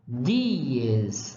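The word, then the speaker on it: dies: de nyhus eu pronuncio dias a palavra dia em Latim é dias é como se pronunciasse dia certo é acontece também por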